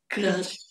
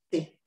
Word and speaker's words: Krtsch: Então, olha, o apelido é Checo, porque o meu pai é checo, e eles lá pronunciam como te suave, dizem Krtsch. Krtsch. Krtsch.